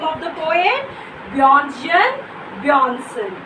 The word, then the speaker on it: Bjørnstjerne Bjørnson: How will you pronounce the name of the poet? Bjørnstjerne Bjørnson.